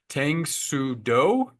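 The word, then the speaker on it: Tang Soo Do: going to have to help me with the pronunciation. Tangudo.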